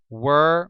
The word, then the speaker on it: were: between where and were where rhymes with ER were rhymes with fur and uh there it's